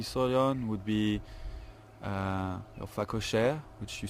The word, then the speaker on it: phacochère: The warthog that we saw on would be your phacochère, which you spell P-H-A-C-O-C-H-E-R-E.